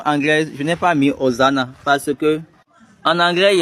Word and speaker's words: Hosanna: Ce n'est pas Oziana, c'est hosan. Hosanna.